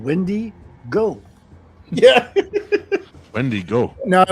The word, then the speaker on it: Wendigo: You placed the wrong emphasis on the incorrect syllable. It's because it's two names. First of all, it's a she. She's called Wendy Go.